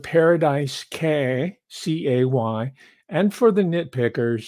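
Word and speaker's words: Cay: It's called Paradise K, C-A-Y. And for the nitpickers, sometimes it's pronounced key, but we locals down in Tiburon, this is an enclave.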